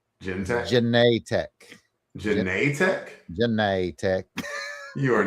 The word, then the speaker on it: Genetech: You know, I'm pronouncing it the same way that Forrest Gump pronounces Jenny. Genetech.